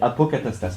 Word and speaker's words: apocatastase: Alors je vais je vais apocatastase comme ça se prononce.